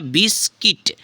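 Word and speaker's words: biscuit: हो गया आपका यू हो गया है आपका साइलेंट तो हो गया बिस्किट बिस किट ठीक है फ्रेंड्स सी से क्या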